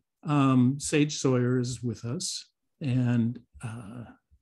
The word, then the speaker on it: Sohier: a challenge it's just it's pronounced as if it's spelled s-a-w-y-e-r so it's just sawyer like a like a wood cutter yes well we have